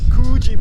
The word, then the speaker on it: Coogee: Actually, the pronunciation is Coogee Beach.